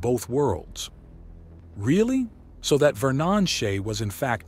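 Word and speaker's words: Ver'Nonshay: And the proper pronunciation is Vernon Shea.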